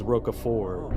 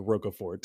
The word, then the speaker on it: Roquefort: you got andrew uh the correct answer you actually pronounce brawl is roca four oh i've never heard it pronounced that way in my entire life but yes to to the american eye it looks like roca fort yes all right question